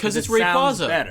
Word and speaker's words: Rayquaza: if the quaza and Rayquaza is meant to be like quazar I say Rayquaza it's Rayquaza oh my gosh every